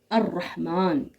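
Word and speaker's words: الرحمن: हैं अतारिक इसी तरीके से हम पढ़ते हैं अर रहमान अनज वो ये सारे हरूफ जो है हरूफ शमसी कहलाते हैं।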